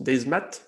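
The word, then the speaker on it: Demat: Alors, comme je le sais, je vais dire, ça se dit, ça s'écrit Desmat, mais on prononce Desmat, des Desmat, maths.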